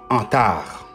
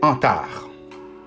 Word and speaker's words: Antares: par antares du préférences ça se prononce en tard d'après le directeur de cette compagnie c'est en tard antar existent ils encore